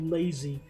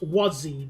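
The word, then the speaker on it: Łazy: I just remembered from Simrail that there's literally a station near Katowice called Lazy. It's pronounced Wazzy, though.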